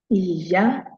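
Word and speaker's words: ìyá: That same word can be pronounced as Iya, meaning do mi. That the tone is do mi, and it means mother.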